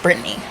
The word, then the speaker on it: Britny: I think it's pronounced Brittany, like normal.